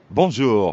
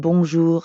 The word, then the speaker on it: bonjour: add the second part notice how the j in bonjour sounds a lot like the middle of the english word measure and the r at